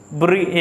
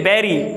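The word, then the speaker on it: bury: Many people बरी, ठीक है, बैरी, मैनी पीपल इसको क्या पढ़ते हैं? तकरीबन, तकरीबन बरी पढ़ते हैं, बरी नहीं होता, इसकी प्रोनाउंसिएशन बैरी होती है, क्या होती है?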